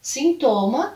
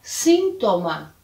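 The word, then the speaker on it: síntoma: ainda espanhol é e a pronúncia vai ficar diferente por causa da localização da sílaba tônica então em português sintoma em espanhol sintoma sintoma sintoma o outro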